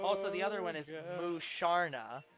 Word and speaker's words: Musharna: Also, the other one is Musharna, spell which so that U is pronounced oo.